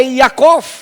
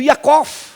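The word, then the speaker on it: יעקב: iniciou Deus é fiel Jacó a palavra no hebraico não pronuncia não tem uma pronúncia J a palavra Jacó no hebraico é yacov porque a palavra J Jota não é não tem a pronúncia de Jota ela tem a pronúncia de y então é o yakov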